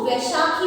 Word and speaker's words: बैसाखी: ए के एच आई बैसाखी बच्चों इसको वैसाखी भी बोला जाता है which is also correct and in some spelling